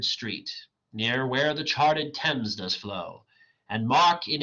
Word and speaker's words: Thames: first line the Thames it looks like it's pronounced Thames but it's actually the Thames it's a river uh in London uh and